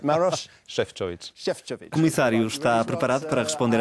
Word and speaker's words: Maroš Šefčovič: Para responder às perguntas, o Comissário Europeu para as Relações Interinstitucionais e Administração, Maroš Šefčovič. Perfect. Very good pronunciation. You said Maroš Šefčovič.